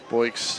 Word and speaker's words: Boix: got any stolen bases anthony boyce spells it b-o-i-x yep boyce is how they say it sounds like a sound